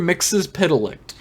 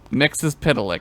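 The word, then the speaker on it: Mxyzptlk: Mix's Pitalik. And if you like follow the letters to the sounds, it's perfect. Mix's Pitalik.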